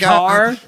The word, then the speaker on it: Kaur: She's like, it's Kaur. You pronounce it like Kaur. I don't know. But it's spelled K-A-U-R, which... Yeah, because it sounds different in English than in my language.